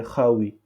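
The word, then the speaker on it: خاوي: Donc, Kha, on met ici K et H. Donc, vide, en Darija et Khawi. Khawi. K-H-A-W-O-Y. Donc, W-I. C'est le W en anglais.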